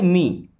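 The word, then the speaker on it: me: और इसे पढ़ते हैं मी। मी मीन्स होता है मुझे, इसको मैं नहीं पढ़ना है, मी पढ़ते हैं।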